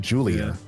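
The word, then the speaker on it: Giulia: when I saw it, it's spelled G I U L I A. I also would have thought like Julia or something like that because she's Japanese, but no, they pronounce it Julia.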